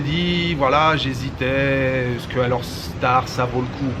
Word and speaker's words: Alor Setar: D'ailleurs, je dis Alor Setar, puisque ici les gens disent Alor Setar. Ça s'écrit Alor Setar, mais Alor Setar, ça marche très très bien ici.